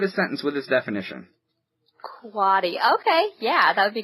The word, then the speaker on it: quotty: What is quatty? QUOTTY, pronounced quatty.